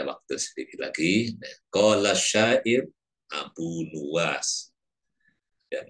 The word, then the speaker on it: Abu Nuwas: Qala syair Abu Nuwas, yang membacanya Abu Nawas. Qala syair Abu Nuwas bidhammin nuni wa bil wawi. Jadi nunnya di dhammah dan wawu, artinya Nuwas.